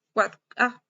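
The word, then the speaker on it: AAAA: servidor con nombre autoritativo, las 4A o AAA es una dirección IP versión 6 de terminal, o también pronunciada pues 4A, y MX, que es un registro de intercambio de correo.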